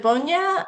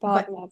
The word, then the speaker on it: Bogna: Thank you so much, Cheyenne, and congratulations to both of you, Chloe and I'm not sure, is it Bonya or am I saying that right? It's pronounced Bogna, but it's fine.